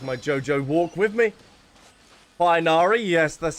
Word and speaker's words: Tighnari: Tighnari, yes, that's how we pronounce it.